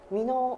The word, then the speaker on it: 箕面: 人の都市です読み方なんですけども箕面ほしいです初めての方には読めないかもしれませんけど 3 の腕